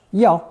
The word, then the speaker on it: 钥: Still pronounced yao, however, no matter which phonetic you use.